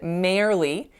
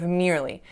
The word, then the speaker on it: merely: So the word was merely, merely, but instead of making the ear sound, I made an air sound. So I said merely instead of merely. So again, how I pronounced it was actually much more reasonable based on the spelling. However, that's just not how English works, and we don't say merely, we say merely.